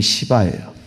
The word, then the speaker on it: 시바: 이름이 시바예요. 발음을 잘해야 될 것 같습니다.